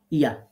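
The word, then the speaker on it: ي: যেখানে এগুলো লেখা থাকবে তো জিম শিন এবং ইয়া তাহলে তিনটা হরফ জিহ্বার মাঝখান থেকে তার বরাবর উপরের তালুর সাথে লাগিয়ে শক্ত করে উচ্চারণ করতে হবে এই কথাটা সুন্দর করে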